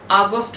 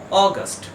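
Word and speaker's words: August: জি ইউ এস টি আমরা সাধারণত এই ওয়ার্ডটাকে উচ্চারণ করে থাকি আগস্ট বলে কিন্তু এর কারেক্ট প্রোনাউন্সিয়েশন হবে অগস্ট অগস্ট এর পরের ওয়ার্ড হলো ওয়ার্ড নাম্বার থ্রি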